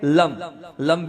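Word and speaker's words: लं: और उच्चारण क्या होगा? लम। जीभ कहाँ टच होगी? दांत पर।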